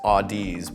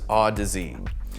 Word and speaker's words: Audeze: i was inclined to read the name as audis but i soon learned it was autism a good mnemonic for this is remembering that odyssey rhymes with odyssey autozy is a brand with a lot of audiophile